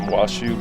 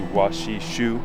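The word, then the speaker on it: Washoe: for ancestors of the I've been calling them wasu but it's actually wasi Shu people is what I believe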